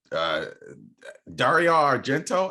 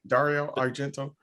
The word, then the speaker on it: Dario Argento: And the last one I'm going to talk about is a Dario Argento. Am I saying that right? Dario Argento.